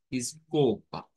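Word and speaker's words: escova: Vamos a quedarnos con la pronunciación, digamos, de la is, que quizás es la que suena diferente al español, y sería escoba, escoba.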